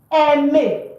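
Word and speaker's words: aime: For example, the verb to like in French is eme. Do you see that? E. The verb to like is not. So a i is pronounced e.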